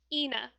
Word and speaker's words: Eithne: spell the name again it's e-i-t-h-n-e pronounced ena ena okay that's neat it's irish of course um what else can